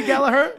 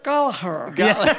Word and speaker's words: Gallagher: Pronounced that way. Is it supposed to be Gallagher? Gallagher.